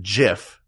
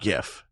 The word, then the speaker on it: GIF: Is because the inventor of the GIF, whose name is Steve Wilhite, I believe, he said it's pronounced JIF, not GIF.